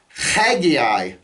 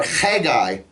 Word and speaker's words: Haggai: Another name that we often mispronounce is another Old Testament prophet, Haggai. Okay, or Haggai. It begins with a het.